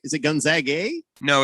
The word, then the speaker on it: Gonzaga: the nice entertainment uh you pronounce gonzaga with an a not an ah that's why we call ourselves the zags i'm confused i i